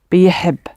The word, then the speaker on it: بيحب: I think you've got the right flower, but pronounce the y, and then put the routine b on the top. So the first bit is but like b, and then heb, biheb.